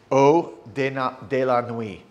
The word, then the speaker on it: Eau de la Nuit: And the name of this one is, I want to make sure I pronounce it correctly. This is Eau de la Nuit.